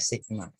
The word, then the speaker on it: sigma: Dia seperti huruf E, bacanya sigma.